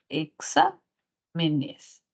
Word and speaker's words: exámenes: me nes cierto y la sílaba tónica se mantendría acá sa exa menes ya no es grave porque ahora hay más sílabas en base al plural y entonces diríamos que es una palabra esdrújula y por ser